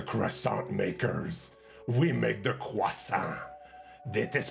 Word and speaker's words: croissant: we are the croissant makers we make the quasa that is pronounced this way let's ask google okay let's